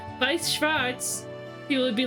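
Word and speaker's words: Weiß Schwarz: We Schwarz, but knowing German and knowing that it's pronounced Vice, but it's like the name of the card game. So, like if you said Vice Schwartz, people would be like, "What?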